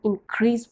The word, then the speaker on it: increase: बट इसकी pronunciation जब हम इसे यूज़ करते हैं एज अ नाउन तो इसको प्रोनाउंस करते हैं, वी आर to pronounce it इंक्रीज, और एज अ वर्ब इंक्रीज में आपका जो स्ट्रेस है वो फर्स्ट पार्ट पे होगा. ओके, और इंक्रीज में जो सेकंड पार्ट पे वहाँ पे स्ट्रेस होगा.